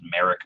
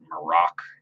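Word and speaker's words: Marrok: I always thought it was Merrick. Apparently, it's pronounced Marok.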